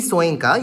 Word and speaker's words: Soyinka: Now, as opposed to this, another African writer called Wole Soyinka, you can Google him, Soyinka or Soyinka, it's pronounced in both ways, Wole, capital W, surname is capital Soyinka.